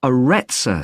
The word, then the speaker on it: Areta: got a rather strange name it's called the areta center that's spelled a r e TS a okay they've